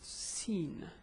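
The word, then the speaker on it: سين: It's Siin. The pronunciation is sa.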